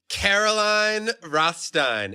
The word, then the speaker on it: Caroline Rothstein: love this interview with Caroline rostein enjoy ladies and gentlemen Caroline Rothstein am I saying it right yes okay good I was